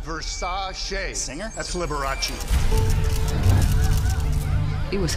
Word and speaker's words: Versace: Pronounced Versace.